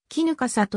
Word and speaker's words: 衣笠: としての衣笠は絹華里濁らずに読まれるが横須賀線の衣笠駅は衣笠と濁って読まれる神奈川県立横須賀